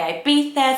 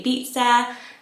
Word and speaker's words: Ibiza: so here in the uk we would say i beat there some people say ibiza everything goes really but the catalan name for it so the spanish is ivisa so let me know i'm pronouncing this how i weighed in like my dialect but we're all from different places we've got different pronunciations of it i think it is